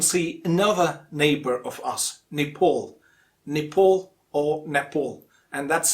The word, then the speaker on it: Nepal: the correct pronunciation is nepal or nepal not pal it's paul next one in the